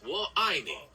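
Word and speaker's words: 我爱你: To say I love you in Mandarin, you would say wo aini. It's pronounced kind of like wo I with the I sounding like the English word I and ni like knee.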